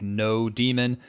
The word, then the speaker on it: nodemon: I know some people pronounce this differently, like no demon, Nodemon, right? Nodemon, some people pronounce it like.